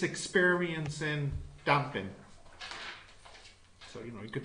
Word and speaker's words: damping: It is damping. Okay. Two syllables.